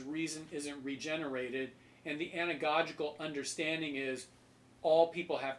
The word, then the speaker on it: anagogical: anagogical mode all right I'll spell it for you a-n-a-g-o-g-i-c-a-l anagogical in the anagogical mode